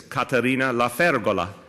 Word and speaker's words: Caterina La Fergola: I want to say, to hearken back to my roots, the full and proper pronunciation of her name is Caterina La Fergola.